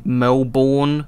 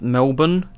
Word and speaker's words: Melbourne: of how great it is to be in Melborn Victoria uh over here in Australia we pronounce it as Melbourne even though it is spelled like how you